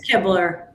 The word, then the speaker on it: Kibler: It's Keebler. Oh, Keebler. Like the Keebler Elves, you know.